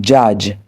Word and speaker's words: judge: En ce qui concerne la lettre D, elle est le plus souvent omise lorsqu'elle est placée avant la lettre G. Par exemple, judge, le juge do esquivé.